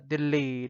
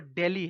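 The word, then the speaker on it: Dili: ये दिल्ली है वो दिल्ली है, ठीक है, दिल्ली दिल्ली मत बोलना, ठीक है, ये वो है दिल्ली, ठीक है, इंग्लिश में इसको दिल्ली प्रोनाउंस किया जाता है, और ये है दिल्ली।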